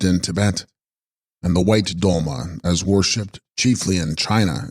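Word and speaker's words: sgrol-ma: Text, Scrolma, pronounced Dolma, Dolma Sanskrit Tara, equals Savioress.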